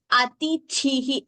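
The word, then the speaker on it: अतिथिः: Atithihi. The first thi is alpa prana. Only the second thi is mahaprana.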